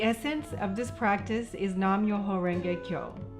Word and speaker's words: Nam-myoho-renge-kyo: daishonin's buddhism the essence of this practice is nam-myoho-renge-kyo pronounced nam myoho kyo this is my cup of